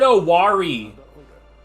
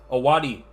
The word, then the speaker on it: Owari: And finally, in Owari, he said Owari. took his first Bruh. towards conquering the land. Like, all of the R's, he's pronouncing them like English R's. I hate this. You don't fucking say! Owari.